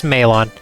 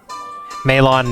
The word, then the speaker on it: Malon: boy from the forest my name is maelon my dad owns long lawn ranch meilon malon you can pronounce whatever you like dad went to